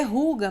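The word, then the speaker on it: hygge: Se lê ruga, mas se escreve assim, bem diferente.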